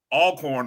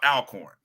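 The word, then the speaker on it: Alcorn: to figure out and remember to say all corn, not alorn.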